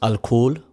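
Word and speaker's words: الكحل: By the way, in Arabic, alcohol is pronounced al-kuhl, which means flesh-eating spirit.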